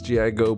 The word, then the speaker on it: Gigo: guys my name is gi go put it together and it is pronounced gigo and today we're going